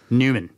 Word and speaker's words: Neumann: Yes, Neumann. Neu. Von Neumann. I mean, N-E-U is actually pronounced Neu if it's German.